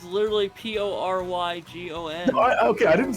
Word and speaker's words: Porygon: It's like someone who on the East Coast who doesn't know how to pronounce. It's literally Porrygon.